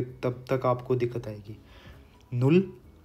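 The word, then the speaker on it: null: तो इसको मैं ना इंग्लिश में भी लिख देता हूँ यहाँ पे, ताकि आपको थोड़ा सा एक प्रोनाउंसिएशन का आइडिया हो जाए। नुल, आइंस, स्वाय, त्राय।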